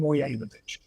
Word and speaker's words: Mogilevich: It's Semyon Moyevich. It's spelled Mogilevich, but it's Semyon Moyevich, who was connected to Donald Trump, connected to Robert Maxwell, connected to Harry.